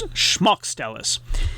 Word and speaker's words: Smaukstelis: The SM is pronounced more like an SHM, and the accent is on the first syllable, so it's Smaukstelis.